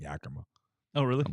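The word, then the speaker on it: Yakima: their favorite farm in Yaka Valley, Washington. I found out how to say the name. Yaka. Yaka. Okay. I was listening to a Mariners game. just kept saying Yakma.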